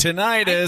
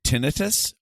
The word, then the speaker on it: tinnitus: Is it tinnitus or tinnitus? Because I've heard it pronounced both ways.